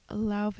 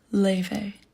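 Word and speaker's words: Laufey: Then we went to Lave. My name is pronounced Leve.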